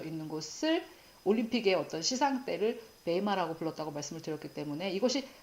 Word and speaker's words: bema: 심판대에서 그리스도의 심판대에서 이 그리스도의 심판대는 제가 베마 BEMA라고 적고 베이마라고 읽는다고 말씀을 드렸는데요.